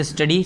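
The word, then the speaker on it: Saint: है ठीक है केस स्टडी सं संत कबीर की जो सेंट कबीर थे स्पेलिंग गलत लिखी वैसे संत भी बोलते हैं कुछ लोग वैसे सेंट होता है एस ए आई एन टी सेंट सेंट Kabir की यहां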